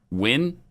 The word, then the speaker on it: Ngo: asian person's name and it's ngo and you're an english speaker how are you supposed to know that that's pronounced win yeah or who or i